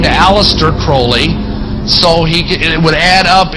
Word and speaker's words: Crowley: he likes the prenup had his name pronounced Crowley to rhyme with holy he had so many